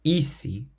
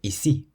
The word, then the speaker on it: ici: So it's not ici, but ici. We stress the second I, the bit at the end, ici.